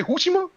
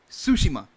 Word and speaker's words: Tsushima: be country yeah sumo what did you say coochie mah Tsushima Tsushima it's not what so the tea is